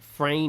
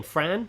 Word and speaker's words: Fran: Now, Croatian music teacher, actually, Frra, it's a weird name. It's spelled Fran. Fran, not Frra. Fran. It's spelled Fran, but he's a guy. Okay. It's spel spelled like Frank, but instead of a K at the end, it's got an E.